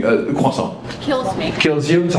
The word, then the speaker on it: croissant: Question, how do you feel as a French person about Americans mispronouncing croissant?